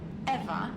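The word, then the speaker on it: Ewa: to a lifeless machine besides eva is spelled e w a not e v e i thought we agreed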